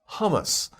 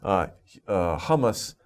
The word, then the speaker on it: hummus: Okay, and also be careful because humus is not hummus.